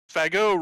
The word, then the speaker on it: Fagot: And they made a point of always pronouncing it with a French pronunciation. Go figure. Fagot. Go fucking figure, yeah. Fagot receives the ball, but